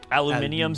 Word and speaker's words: aluminium: You pronounced that incorrectly? Aluminium, Steve. You're going to make me say it the Yeah, British yeah, way? You gonna do this? Aluminium. No.